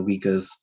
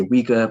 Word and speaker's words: Uyghur: I used to say Uyghur, but then a brother told me it's Uyghur, and I was like, okay.